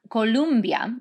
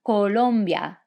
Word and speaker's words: Colombia: america del sur colombia now remember it's not columbia like columbia university with a u it's colombia excellente one more time